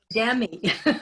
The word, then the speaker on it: Guddemi: Let me just clarify though, my name is pronounced Guddemi, Guddemi. easy and Guddemi is hard.